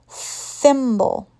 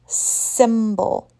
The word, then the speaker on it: thimble: it is the boys 10th birthday tense voiceless thimble thimble voiceless be careful not to pronounce the S sound symbol we want to pronounce symbol stick your tongue